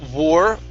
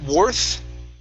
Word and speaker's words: worth: word Worth right here instead of saying War worth using an or sound this is an ER were worth worth okay good